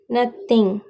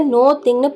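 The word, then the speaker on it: nothing: எதுவும் இல்லை அப்படின்னு சொல்லுவோம்ல, இது எப்படி இங்கிலீஷில் சொல்லலாம்னா நத்திங். நத்திங். இதை நோ திங்னு ப்ரொனவுன்ஸ் பண்ணக்கூடாது. நத்திங்.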